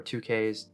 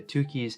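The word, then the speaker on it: Tukey: bonferroni adjustment and another is it two keys or two k's i don't really know how to pronounce it i think most people say two keys honestly significant difference all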